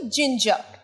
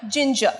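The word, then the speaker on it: ginger: জিঞ্জার জিঞ্জার আদার ইংরেজি জিঞ্জার র টা কিন্তু আমরা শেষে খুব একটা উচ্চারণ করি না জিঞ্জার আরেকবার বল জিঞ্জার আর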